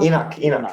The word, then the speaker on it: Enoch: Enoch.